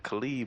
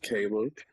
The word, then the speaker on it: Caleb: Khalid, man. What's good? It is Caleb. For those who never seen the name before, it's pronounced Caleb.